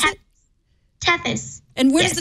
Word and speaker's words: Tethys: And it's called Tethys? Is that how you pronounce it? Tethys.